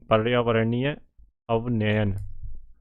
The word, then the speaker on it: पर्यावरणीय अवनयन: भाई ठीक है पर्यावरण पर्यावरणीय अवनयन इसका स सही प्रोनाउंस यही है पर्यावरणीय अवनयन ठीक है